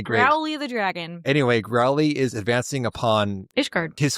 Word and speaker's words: Graoullly: It's spelled, for the record, Graullly. Nope, Graoullly. Sorry, yes. So who knows what to do with all of them vowels? Growly. Growly it is.